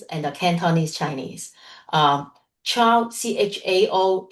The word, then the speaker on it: Chao: Chao Chao is more a Mandarin Chinese phonetic translation of the last name Jiu, and Chiu is more the Cantonese Hong Kong way of pronouncing the word Jiu in Chinese.